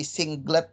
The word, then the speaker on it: singlet: Jadi bacanya bukan 1G ya, tapi singlet G. 3 itu kita baca triplet.